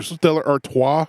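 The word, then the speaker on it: Stella Artois: Stellar Artois.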